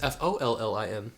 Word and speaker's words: Follin: It's not even spelled like that. It's Follin, by the way.